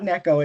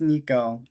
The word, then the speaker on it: Nico: It's not Neko, it's Nico. Because Nico.